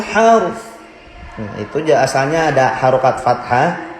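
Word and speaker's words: الحرث: Kalau waqaf di situ wala tasqil harth.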